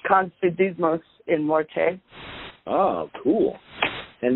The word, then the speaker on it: Confidimus in Morte: Is that the correct pronunciation? It's Confidimus in Morte.